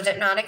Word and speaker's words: Dipnotic: And it's a play on, like, you know, hypnotic, dipnotic, but it's spelled D-I-P, like dip, you know, for your nails.